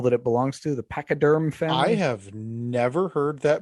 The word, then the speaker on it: pachyderm: Boy, Pacaderm. And boy, no, it's Pachyderm.